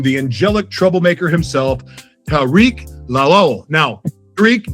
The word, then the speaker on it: Lawal: Please help me welcome the angelic troublemaker himself, Tariq Lol. Now, Tariq, did I say your last name correctly? Yeah, it's pronounced lal.